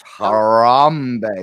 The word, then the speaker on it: Harambe: It's Harambe. You don't have to roll the R.